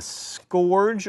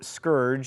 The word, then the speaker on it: scourge: Americans have been sent as a scorge or Scourge as it is apparently properly pronounced what I'm from Alabama